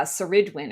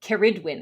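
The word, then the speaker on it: Ceridwen: Uh Seridwin or Keridwin I believe is the Keridwin um is the way we pronounce that.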